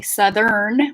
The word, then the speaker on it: southern: And if you can't get the RN at the end, like southern, if that R is getting swallowed and you're saying like southern, again, split the next sound into an additional syllable. So we land on the R sound. So if you're saying southern and you want to say southern with an R, land on the R and then put the N into another syllable.